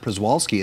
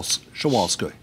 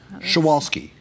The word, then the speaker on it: Przewalski: horse's name all wrong it's not priswalski it's Cheval shawalsky shawalski okay so that's something that